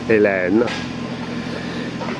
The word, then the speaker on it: Helene: the backyard by Hurricane Helen Helen Helen not sure how to pronounce that at least with the French accent it's elen somewhere we got lucky